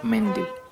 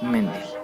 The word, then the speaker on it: Mendel: abadía de santo más d'hebron porque así se pronuncia de puro ladrillo pastos verdes y hermosos paisajes donde el monje austríaco gregor johann mendel ojo a este nombre gregor johan mente nació en 1822 y murió en 1884 fundaría